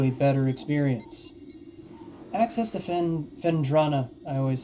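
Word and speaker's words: Phendrana: Access to Fendrana. I always say it wrong. I always say Fenandra, but oh well.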